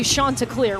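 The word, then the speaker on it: Chanticleer: And so the question has become, what is a Shanta clear? Well, the first question is, how do you say it? And it's Shanta.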